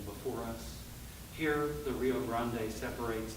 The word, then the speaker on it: Grande: Here, the Rio Grande separates not one country from another, but two parts of our city. Here, folks pronounce the E in Grande.